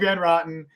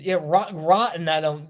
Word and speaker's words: Van Roten: Yes, Greg Van Roten, is Greg Van Roten, right? Greg Van Roten. I think it's Rotten. It's Greg Van Roten.